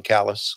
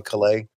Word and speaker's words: Callis: didn't even know Don Callis. I called him Don Calais. Yes. I didn't even know Chris Hero. And now I consider Chris Hero and Don Callis two of my good friends in wrestling.